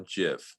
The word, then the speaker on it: GIF: say gif or gif i say gif because jif reminds me of jiffy peanut butter i like to i don't like to think of it like that so i just say